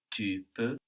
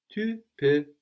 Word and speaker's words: peux: With un peu, we have P-E-U, but then with je peux, I can, we have P-E-U-X, but we don't pronounce that X. How would you say you can? Tu peux. Tu peux.